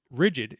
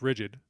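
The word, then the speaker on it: RIDGID: But the thing about Rigid, it's pronounced Rigid, but is intentionally, whether it was a marketing thing or what have you, they intentionally misspelled it as Ridg, Ri.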